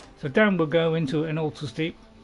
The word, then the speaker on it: Ilinalta: last known location is Ilinalta's Deep. I've been saying it wrong for years. I've been always saying Ilinalta.